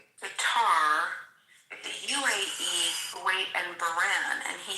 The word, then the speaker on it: Bahrain: Bahrain, by the way, is how you say it, but they're absolutely our allies.